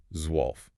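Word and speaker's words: zwölf: You start with the TSV, then you have to slide into the rounded uh of the omlout and then land on the LF. Zwolf.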